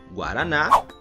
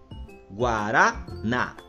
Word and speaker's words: guaraná: oxítonas turma as palavras oxítonas são aquelas palavras que possuem a última sílaba como sendo a sílaba tônica Ou seja a última sílaba é a sílaba mais forte como por exemplo nas palavras café Cipó guaraná Saci chulé e urubu percebam que todas essas